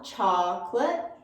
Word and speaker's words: chocolate: them together comfortable vegetable chocolate really wide on the ah chocolate idea idea and kernel